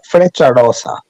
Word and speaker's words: Frecciarossa: He's been like, he went on the, how do you pronounce the trains in Italy? Federico Rossi or something, high speed train. Frecciarossa.